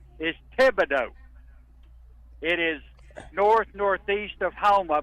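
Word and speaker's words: Thibodaux: Stepping back to yesterday morning, the correct pronunciation is Tibido. It is northnortheast of Homa by about 10 miles, but the correct we know where it is. I brought it up because Trey Reed said Tibo and and and Trey's a learner man.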